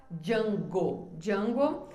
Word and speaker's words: Django: Outro músico que eu encontrei aqui, ó, Django, o nome dele era Django, se escreve com D, DJ Django Reinward.